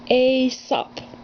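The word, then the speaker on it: Aesop: one of aso's fables can you say that asop it's spelled really weird asop asap's fables a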